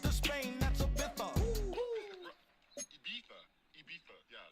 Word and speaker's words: Ibiza: Ibiza. Yeah, it's pronounced Ibiza, actually.